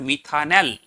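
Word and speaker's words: methanal: কি হবে পরপর লেখ স্পেলিংটা এম টি এইচ এ এন এ এল উচ্চারণ হবে মিথানেল তোমরা বাংলায় যারা লিখবে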